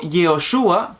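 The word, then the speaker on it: יהושע: Su nombre, Jesús de Nazaret, como se menciona en castellano, probablemente en hebreo su pronunciación hubiera sido Yeshua o Yehoshua, que no es más que el nombre Josué, o una versión un poco más corta del nombre Josué, el mismo personaje bíblico.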